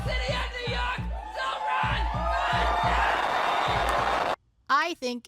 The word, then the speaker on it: Mamdani: Mamdani. His critics said that he didn't have the right name. And Mamdani said it right? The name is Mamdani. M-A-M-D-A-N-I. You should learn how to say it because we got to get it right.